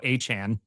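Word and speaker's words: Etienne: Uh actually, it's the artist formerly known as Travis ETN because the official pronunciation is now Achan, which I I I'm just going to call him the artist formerly known as Travis ETN all season.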